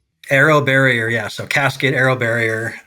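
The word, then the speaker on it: AeroBarrier: And is this where it kind of cascade ar how do you pronounce that again? Arrow barrier. Arrow barrier.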